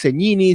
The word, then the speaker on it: Segnini: Aunque he escuchado que te nombran Cegnini, la pronunciación es Cegnini, Cegnini.